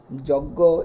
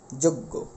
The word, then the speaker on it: যজ্ঞ: বিষয়টি আমরা আরেকবার বলি যে শব্দের শুরুতে যদি অ থাকে এবং এরপরে যদি এই দুটি যুক্তবর্ণ আমরা পেয়ে থাকি একটা যুক্ত খ আরেকটা হলো বর্গীয় যোগ যোগ ইয় এবং এই দুটো যদি উল্লেখ থাকে তাহলে অ এর উচ্চারণটা ও এর মত হয়ে যাবে যেরকম অক্ষটা অক্ষ কক্ষ